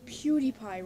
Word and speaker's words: PewDiePie: well that guy pronounced PewDiePie wrong you could have said pew die pie but no you had